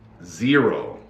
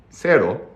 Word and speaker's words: zero: was calling me this word is zero zero zero not Sero in English it's z z z z z z ero zero okay one of the things you have to know is when we say Zer Zer it's like ear we say zero so